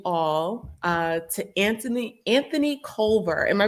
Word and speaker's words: Culver: to introduce you all uh to anthony anthony culver am i pronouncing your last name correctly yep yes who